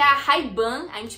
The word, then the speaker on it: Ray-Ban: Bom, eles pronunciam a Ray-Ban desta forma assim, ó. Ray-Ban, Ray-Ban, Ray-Ban. muito diferente, né? Ray-Ban, Ray-Ban. Chique, né? Vocês viram, né? Não que esteja errada como a forma como a gente pronuncia, não tá errada. Só que eles pronunciam com outro sotaque diferente, que é Ray-Ban.